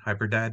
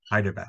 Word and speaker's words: Hyderabad: That's how you pronounce it? Hyperdad or Hyderabad. Hyderabad.